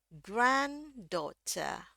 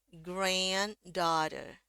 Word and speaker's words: granddaughter: granddaughter ya. Jadi sama aja naiknya naik turun-turun. Grandter grandda. Sekali lagi versi Amerika dulu. Granddaughter. Granddaughter versi British.